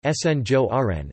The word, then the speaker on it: Sinjoren: The inhabitants of Antwerp are nicknamed Sinjoren, Dutch pronunciation, Sinjoren, after the Spanish honorific seigneur or French seigneur, Lord, referring to the Spanish noblemen who ruled the city in the 17th century.